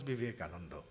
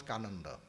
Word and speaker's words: Vivekananda: So told they could not pronounce Vivekananda. They used to pronounce Kananda.